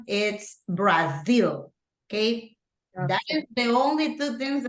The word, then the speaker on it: Brazil: it in English Okay and remember that the pronunciation is Brazil okay the only two things I have to